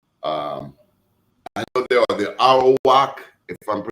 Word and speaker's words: Arawak: So when I think of Jamaica, if I could pull you in, I know there are the Arawak, if I'm pronouncing it correctly, Arawak Indians.